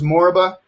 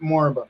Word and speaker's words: Moriba: My name is from Sierra Leone, and the way they pronounce it is Moriba, and so that's fine. So I answer to dude. I answer to many things, but yeah, in Sierra Leone they pronounce it Moriba.